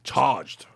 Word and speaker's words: charged: You're pronouncing the R too much. So you're doing an aura. Facts. The charge. Oh. It's charge. Charged.